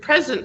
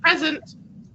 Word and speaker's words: present: a change in stress the word present for example is a two-syllable word if we stress the first syllable it is a noun which is a gift like i have a present for you or an adjective opposite of um absent like maybe the teacher asked if you are here and you're like present okay but if we stress the second syllable becomes the verb uh to offer may